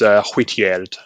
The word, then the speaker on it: Hwitgeard: Well, the G is pronounced softer, like an English Y, so it's Hwitgeard, and essentially it's the Old English for white.